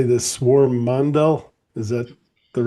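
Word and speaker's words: Swarmandal: Swarm mandal.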